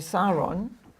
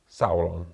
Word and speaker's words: Sauron: of the Rings this is the board where saon how did I say that right how do you say that Sauron saon Sauron yeah you see he gets pronunciation